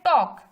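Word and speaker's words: talk: आगे है टॉक, ठीक है, हम यहाँ पढ़ रहे हैं टॉक, जैसे वॉक पढ़ा वैसे हम यहाँ पे पढ़ रहे हैं टॉक, मतलब कि यहाँ पे एल जो है वो अगेन साइलेंट है।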